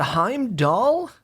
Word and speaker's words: Heimdallr: out the new god hime doll I think I don't think I think the R is silent I did a little